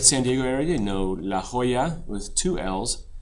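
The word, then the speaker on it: La Jolla: you're familiar with San Diego area you know La Hoya with two L's it's actually spelled with a Y Hoya means Jewel so HOAs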